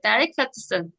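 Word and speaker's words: delicatessen: 젊은 아가씨란 뜻이 되겠죠 그다음에 델리카트슨 데리 슨슨 델리카트슨 제가 여기 발음 써 놨어요 델리카트슨 델리카슨네 그래서 이거는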